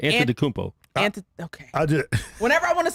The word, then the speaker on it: Antetokounmpo: They put There's a no B B in there every time I'm watching them. It frustrates me so much that they can't get his name right. Antetokounmpo.